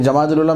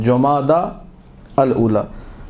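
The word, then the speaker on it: جمادى الأولى: की तारीख है अभी जमाद ला मेरी मजबूरी आपके सामने बोल रहा हूं गलत लफ्ज है जमादा अल ऊला सही लफ्ज अरबिक जो करेक्ट प्रोनंसिएशन प्रोनाउंस है वो यह है जमादा अल उला अब य जमाद अव्वल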